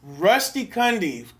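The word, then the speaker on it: Rusty Cundieff: say his last name again rusty what kandi rusty cundy beautiful picture i i i give i give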